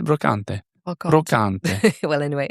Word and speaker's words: brocante: B is for in an in an Australian accent I'd say brocante. How would you pronounce it? Well, in French you'd say brocante.